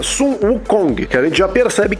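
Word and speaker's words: 孙悟空: É, a pronúncia chinesa do nome do rei macaco é Sun Wukong, que a gente já percebe que há alguma semelhança com S Goku.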